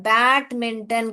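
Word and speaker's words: badminton: ना यहां पे देखिए आप प्रोनाउंस करने के बैडमिंटन करके प्रोनाउंस करते हो मगर लिखते हो डी तो ध्यान दीजिए बैडमिंटन बैडमिंटन ये डी जो है उसका स्ट्रेस नहीं होता है सो य बैडमिंटन नहीं पढ़ते हो अगर अलग-अलग पढ़ोगे तो इसको देखिए बैडमिंटन बैडमिंटन नहीं बोलते हम बैडमिंटन ऐसे बोलते हैं मगर लिखने के टाइम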